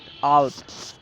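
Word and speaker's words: اوت: زویہ، جولائی زویہ۔ اگست، اگست کا فارسی تلفظ ہے آوت، اگست آوت۔ اس کے بعد ہے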